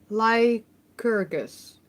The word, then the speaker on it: Lycurgus: Lycurgus. I'm just gonna pronounce. History Explained. I just think the C is like a K here instead of like an S. I'm not sure.